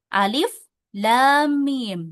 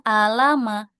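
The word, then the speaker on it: الم: Contohnya alif lam mim bukan alama ya. Tapi alif lam mim.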